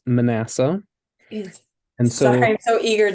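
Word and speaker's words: Manasseh: sure just kind of pay attention to those syllables no yeah so in English it's Manassa and so I'm so eager to guess the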